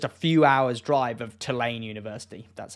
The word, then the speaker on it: Tulane: lakes within just a few hours drive of Tulane University that's how you pronounce it but somehow here they're driving a